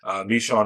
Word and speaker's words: Michonne: Michonne is how Kirkman pronounces it.